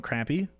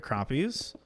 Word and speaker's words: crappie: there's Guppies there's um crappie which is spelled crappy and when I was a kid I called them crappy but they're crappies there's walleye um there's